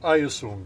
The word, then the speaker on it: Hyosung: Hyosung.